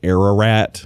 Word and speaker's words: Ararat: No, I think it's like if you roll your R's. Ararat. Yeah, a little closer. Ararat. Yeah. It's pronounced Ararat.